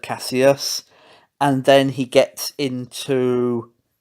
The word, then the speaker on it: Kassius: rates the reporter for pronouncing his name as classy ass instead of Casillas and then he gets